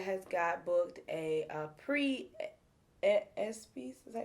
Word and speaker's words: ESPYs: Apparently, Lyrica has got booked a pre ESPYs. Is that how you say it? Yeah, pre-ESPYs. ESPYs.